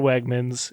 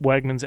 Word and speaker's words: Wegmans: Does it rhyme with Hegmans? Indeed it does. We went to the Brooklyn Navy Yard Wegmans.